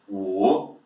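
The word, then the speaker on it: 五: sì And the last one, number five, third tone dropping a little bit and upwards. Yes? So down and up with your pronunciation. wǔ now let's go over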